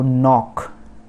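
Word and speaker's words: knock: तो नॉक, दरजा जो डोर है उस पे जो दस्तक देना होता है उसको हम बोलते हैं नॉक, मतलब खटखटाना, नॉक। तो के साइलेंट, फर्स्ट के, नॉट द लास्ट, फर्स्ट के।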